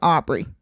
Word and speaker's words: Aubrey: really good explanation from this Mr uh Mr Aubrey kid right right that's how you say his name yes Aubrey that's correct okay so let's talk about this